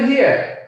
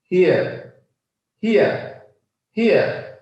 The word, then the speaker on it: here: হিয়ার, হিয়ার, হিয়ার। It's near হিয়ার, হিয়ার, হিয়ার। মনে থাকবে আমরা এতদিন শিখেছি হেয়ার।